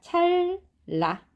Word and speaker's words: 찰나: 자, 그 다음에 찰나 요것도 리을, 리을로 변합니다. 찰라.